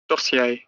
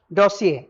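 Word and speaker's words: dossier: दो साउंड जाएगा, एक ब्रिटिश एक अमेरिकन। डोसियर, क्या बोला है? डोसियर। अब अमेरिकन डोसियर, डोसिए, डोसियर, डोसिए, और अमेरिका वाले डोसियर, डासिए, डोसियर, डासिए।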